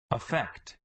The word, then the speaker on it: affect: verb you see that the stress is on the second syllable and it's pronounced effect effect effect and the